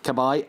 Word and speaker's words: Cabaye: was you on cab a is a correctly pronounced i wink at I Cabaye and steve mann Dada so now laying at